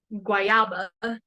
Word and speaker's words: guayaba: Guayaba is how you say it in Spanish.